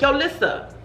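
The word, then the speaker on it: YoLissa: yo lissa yo lisa yo that's how i say it like yo lissa hey yo listen it's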